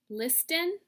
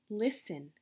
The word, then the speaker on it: listen: ow trout Oh mmm Liston that's what it's spelled like right but we say listen good job Shh uh-uh